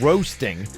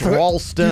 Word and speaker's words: Ralston: I'm like, "It's not roasting. It's not. We're not like chestnuts on an open fire. You can't Ralston.